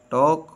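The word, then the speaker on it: talk: knee no knock knowledge silent L एल इ ऑफ not pronounce before L डी एफ एम के एल डी एफ एम के से पहले अक्सर एल आवाज नहीं देता जैसे काम हाव टॉक वक would should silent N एन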